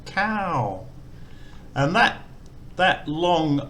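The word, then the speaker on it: ข้าว: So this here is the word for rice with a falling tone, cow.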